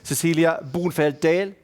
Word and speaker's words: Cecilia Bonefeld-Dahl: Swedish-speaking Finn, I have to practice my Danish pronunciation. Cecilia Bonefeld-Dahl.